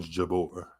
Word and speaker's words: Jabeur: I like making sure people's names are correctly pronounced but I know it's on Jabor if I want to be a little fancy